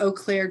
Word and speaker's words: Eau Claire: friend jody giroux in menomonee wisconsin with her eau claire cheese company uh because i've pronounced that correctly you did very good there